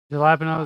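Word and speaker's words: jalapeño: Um, it's pronounced jalapeno.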